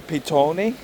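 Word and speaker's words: Petone: But just know I'm going to use the proper Māori spelling for Pito. So if you look at this place on the map, it's spelled P-E-T-O-N-E.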